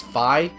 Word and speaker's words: Fi: It's just how I'm going to pronounce this. How I've pronounced it since the game's been out.